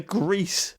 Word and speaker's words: Gris: about it on Twitter is pronounced grease because it is Spanish for the color great but I'm just gonna